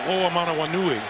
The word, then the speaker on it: Oamanawanui: I believe the call was on number 47, Michael Oamanawanui.